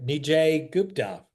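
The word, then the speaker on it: Nijay Gupta: Nij Gupta. Did I pronounce that right?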